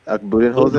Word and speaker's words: Budenholzer: Budenholzer.